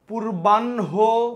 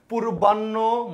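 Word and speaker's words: পূর্বাহ্ণ: পূর্বানহ মধ্যানহ অপরাণহ সায়ানহ। আমরা উচ্চারণ অনেকেই ভুল বলি। উচ্চারণ করে কি পূর্বান্য মধ্যান্য অপরাণ্য সয়ান্্য কিন্তু হবে কি হ শেষে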